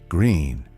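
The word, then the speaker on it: Gruene: Over in Gruin, pronounced green if you're new to the state, you'll find Gruin Hall, the oldest continually operating dance hall in Texas.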